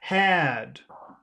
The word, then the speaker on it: had: listen to the length listen to the duration of the vowel sound for number one hat hat here's number and here's number two had head mhm because when you have the letters that you swallow the the vowel becomes longer so number one is